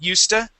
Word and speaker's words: used to: do mainly with pronunciation we pronounce it USTA okay but it's spelled used to used to okay good